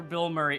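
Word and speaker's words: Bilmuri: forly of attack attack band name is pronounced like the actor Bill Murray okay I was wondering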